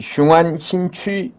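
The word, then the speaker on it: 雄安新区: 자 그러기 때문에 진핑이가 우린 보통 웅안 신라고 얘기하는데 중국 발음하면 흉안 신취 아고 발음을 해야 될 거예요 그래서 제가 독자분들을 위해서 웅안 신구 제가 한글로 말씀을 드릴게요이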